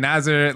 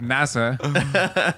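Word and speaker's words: Nasr: and nasa yeah yeah they're pronouncing nazar like nasa and they're both felipes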